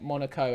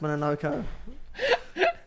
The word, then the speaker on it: Mononoke: I can't tell if you keep saying Monaco as in you're now taking the mick, or that you forgot that it's called Mononoke. No, I've forgotten. It's pronounced Mononoke. I just know it.